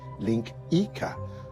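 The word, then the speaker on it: linguiça: It's spelled linguica, but it's pronounced linkica, which is probably why they call sausages links, now that I think of it.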